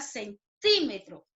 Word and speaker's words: centímetro: En el siguiente ejemplo, la palabra centímetro. A ver, centímetro, centímetro. ¿Dónde suena más fuerte, chicos? Claro, en la sílaba ti, ¿cierto?